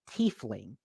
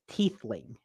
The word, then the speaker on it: tiefling: she's saying something something instead of saying tiefling she says teethling mm-hmm and you can